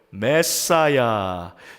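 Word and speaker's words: Messiah: 받은 자라는 뜻에 아 히브리어 마쉬아흐 요것에 아람어 발음이 메시아 요거에 영어 발음이 뭐예요 메사이야 자 이것을 헬라어로 번역한 말이에요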